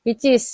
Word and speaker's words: pcs: 3.900 em PES ya Nah ini yang pcs itu apa disebut dibacanya picis ya Heeh nah ini minyak